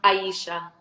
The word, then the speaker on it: Aisia: thank you for that it's actually pronounced Aisha whoa I mean I